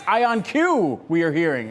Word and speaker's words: IonQ: And at the NYSE, you've got a live look at, in today's game of how you pronounce this company's name. It's IonQ we are hearing, IonQ, ticker symbol, just like the company's name.